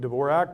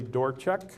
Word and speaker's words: Dvorak: by uh Harold dorek and that's how you pronounce his name by the way it looks like Dvorak but it's actually dorek and this was in New England Journal of